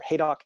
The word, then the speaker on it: Haydock: If you're familiar with Haddock Camp or Haydock Camp, as it is technically supposed to be pronounced, fun historical fact for you folks who really like these old campgrounds.